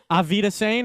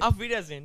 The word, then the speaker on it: Auf Wiedersehen: Auf Wiedersehen. Did I say it right? Auf Wiedersehen.